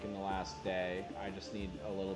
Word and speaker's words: die: And then their empire is called Die Erbauer. And so I searched. I know that DIE, which is pronounced D, means the.